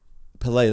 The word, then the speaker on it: Pelé: i had it it's not pele it's pele pelay that's what i i went through a few